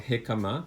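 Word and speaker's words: jicama: is also found in another tuberous root called hekama that's spelled j-i-c-a-m-a in malaysia people call it sun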